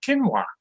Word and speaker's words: quinoa: exactly what it means my wife always corrects me says it's called quinoa all i know if